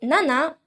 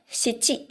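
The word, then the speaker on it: 七: go six is loku seven is nana or shichi just like four seven has also two ways to be said nana or you actually the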